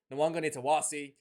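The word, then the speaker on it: Nawaqanitawase: I thought Nwanga Nitawasi. Yes, that's how you pronounce his name, Sean Maloney.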